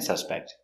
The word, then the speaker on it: suspect: what about the second suspect suspect this is a person it's a noun so distress is first syllable suspect not suspect suspect is a verb this is a noun suspect what about the second